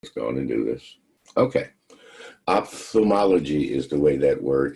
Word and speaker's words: ophthalmology: to do this okay ophthalmology is the way that word is pronounced um let me say it again the oph makes an o f sound off themology is how you would